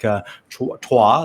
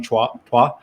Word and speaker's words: Chua: Fong, by the way, his last name is pronounced like Chua, like if you're French, like number three, powerful number. If you're French, you can say Fong Chua, en deux trois, I was told.